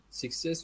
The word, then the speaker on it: success: Success was another mistake of mine, yeah? Success, I didn't notice that. But you already know where to put the stress, the second syllable.